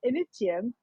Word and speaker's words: Initium: it can't be because there's no sh in Latin it's meant to be initium so I was like